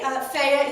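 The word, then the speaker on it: Fedje: I love them actually f is Norwegian it's spelled f e d j e the D is silent the J is like a y and I was I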